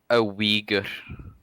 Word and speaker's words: Uyghur: A Uyghur. Oh, okay. Is that the correct pronunciation? Yes.